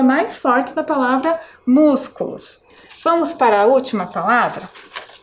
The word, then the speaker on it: músculos: antepenúltima mus músculos Tá qual é a sílaba mais forte músculos é a sílaba Então